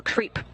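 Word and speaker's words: KREEP: a weird component that we call creep and it's spelled k r e e p and Central potassium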